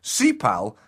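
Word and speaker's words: 십팔: But the Korean word for 18, Sipal, happens to be a homophone of the swear word f***ing.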